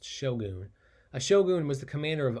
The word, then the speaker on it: shogun: of shogun i know that word looks like shotgun without the t but it's pronounced shogun ashogun was the commander